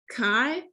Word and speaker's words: chi: a note right uh chi is pronounced kai right or if you